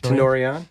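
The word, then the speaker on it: Tenori-on: Tenorion.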